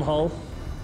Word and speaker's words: Hull: take out the Pope Hall like the front of a boat most people spell it wrong spell it with an a it's with a u I'm from Colorado Springs